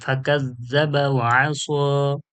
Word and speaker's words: فكذب وعصى: فكذب وعصى وعصى ফা জবর ফা, কাফ জাল জবর কাজ, ফাকাজ, জাল জবর জা, ফাকাজ্জা, বা জবর বা, ফাকাজ্জাবা, وعصى واو زبر وا، عين زبر ع، وع، صاد खड़ा صاد या धरबो